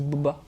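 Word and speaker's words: Bubba: il a deux généraux nokia bots bas qui s'écrit bu2 béa à céline du biwetz et biba mais dit bouba il ya du sale boulot c'est lui qu'on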